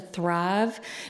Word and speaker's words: thrive: Townsend in particular was reminding me as a Southerner that thrive is a one-syllable word. I've been trying, because I really like to say thrive, but okay, I'm trying, one syllable, Drive to Thrive.